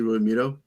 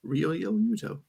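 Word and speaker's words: Realmuto: Will Smith and JT Ruto um Rio yuto put an extra syllable in there for you um the Frenchman shayon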